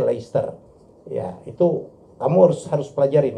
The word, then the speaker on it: Leicester: Nih Manchester betul, tapi kalau Leicester itu bacanya Leicester.